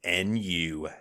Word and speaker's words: Nu: and don't get mistaken new is spelled like new metal Nu new wrestling Evolution just